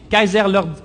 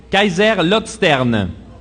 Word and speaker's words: Kaiserslautern: Il évolue en Allemagne avec l'équipe FC Kaiserlord. Bon exercice de prononciation. Kaiserslautern.